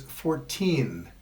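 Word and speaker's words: fourteen: If the stress goes on the second syllable, it is 14. If it goes on the first syllable, it is 40.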